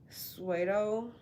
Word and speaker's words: pseudo: paradigms that may have been a source of pseudo security for years.